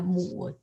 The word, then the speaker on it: 母: Normally say 母, yeah, 母亲, yeah, 母, use this 母, third tone.